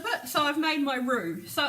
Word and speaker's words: roux: This is called a roux. It's spelled R-O-U-X.